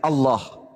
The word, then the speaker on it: Allah: Kalau menggunakan ejaan tajwid, maka bacaannya Allah. Gak ada huruf O di situ. Ini juga kesalahan orang-orang yang membaca huruf Arab menggunakan kata huruf O. Tidak ada huruf O dalam bahasa Arab Allah.